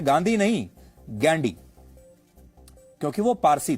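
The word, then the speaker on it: Ghandy: अंग्रेजी में वह गांधी नहीं गैंडी लिखते थे जिसकी स्पेलिंग है जी एच ए एन डी वाई गैंडी।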